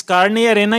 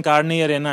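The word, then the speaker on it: Carne y Arena: जो एक्चुअली क्या है, इस कार्ने या रेना की स्पेलिंग या रेना में YARENA है, वाई एरिना है, लेकिन उसका उच्चारण कार्ने या रेना है, मतलब फ्लैश एंड सैंड।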